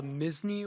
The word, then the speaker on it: Misney: my name's Misney, Misney as in Disney, but with an M and no E.